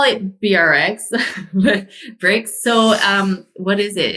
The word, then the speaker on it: BRX: Some people say, well, it's spelled B RX cuz I could get the domain. Let's be honest, that was part of it. And then the other and then I we call it bricks just cuz it's easier to say and it can rhyme with things.